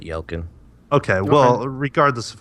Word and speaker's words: Yelchin: Anton Yelchin I really you know don't I yell Kim isn't it or Yelchin you know it's like elgin is it yeah on a percent sure yeah i pronounce it y el kun okay well regardless of